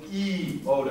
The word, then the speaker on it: iota: okay by the way it's always iota and never iota never iota always e oda okay this is never pronounced i it is always pronounced thank you kappa now